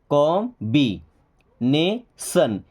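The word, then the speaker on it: combination: सी ओ एम कॉम ब comb. कॉमबी नेशन टी आई ओ एन को हमेशा सन पढ़ते हैं। ओके यह क्या हो जाएगा? कॉम्बिनेशन।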